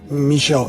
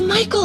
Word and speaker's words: Michael: Also, our talk has gotten me interested in reading some of Michel Andy's books. Sound good? First off, it's Michael Andy, not Michel.